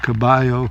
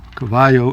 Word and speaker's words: Caballo: l l o pronounced Cabo Cavo in Spanish Cavo I think means horse